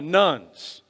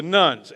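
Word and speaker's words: nones: They're called the nuns, or the duns. You have to spell it right, okay? So the nuns, N-O-N-E-S, people who self-identify as atheists or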